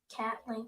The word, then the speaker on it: Caitlin: Caitlin Clark's should be pronounced as what? Don't get me canceled. Caitlin Clark. So where's the E? Because there's no CAI. Oh yeah. CAIT, not CAT.